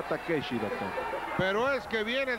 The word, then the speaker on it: Takeshi: Es Takoshi. Ah, Takoshi. Ah, bueno, pero en japonés se pronuncia Takeshi, doctor.